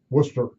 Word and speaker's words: Worcester: I also was a top editor in Rockland County, New York, smaller paper, and Worcester, Massachusetts, where I finally learned how to pronounce Worcester.